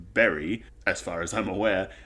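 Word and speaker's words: Beli: their currency which is spelled b-e-l-i and pronounced berry as far as i'm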